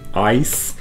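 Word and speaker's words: Eis: it because in german when you have a word like ice e i s you pronounce it as an i sound because in that e and i diphthong the i comes second so you pronounce it ice whereas with the word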